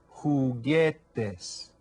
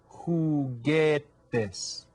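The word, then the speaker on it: juguetes: a lot of times who get this can you say that who get this you hear how the J is pronounced kind of like an H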